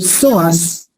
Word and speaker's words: psoas: Los dos músculos van a ser el soas. Miren cómo se escribe, como si fuera psicólogo. Psicólogo p soas mayor y el músculo ilíco.